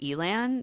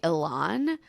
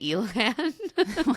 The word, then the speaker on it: Elan: and Elan, who, again, no one seems to agree on how to say his name, but he was introduced as Elan. So even though every muscle in my body wants to say Elan, I'm going to say Elan.